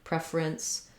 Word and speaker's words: preference: vowel there at all go quickly from your ER to your rinse preference um if you have a preference you can also say preference but it's going to not sound quite as smooth um and so there can be a little small schwa in there if you have a preference for using three syllables rather than two once you can say